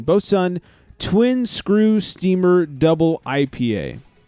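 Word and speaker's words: Boatswain: I came across uh it's spelled batain but you say it BOS sun it's B Swain b o a t like a boat s w a i n bow Sun twin screw steamer double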